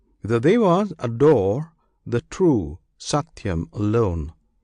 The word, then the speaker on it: satyam: The dwas adore the true satyam alone. This satyam consists of three syllables. One syllable is sa. Another t the third yam.